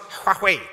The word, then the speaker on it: Huawei: Samsung, iPhone, Huawei, if you want to call it that, or Huawei. When I went to China, they told me it's pronounced Huawei.